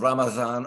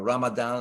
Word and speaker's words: Ramadan: the entire month which is the month of Ramadan or Ramadan or ramazan depending upon how you're pronouncing it and because keep in mind the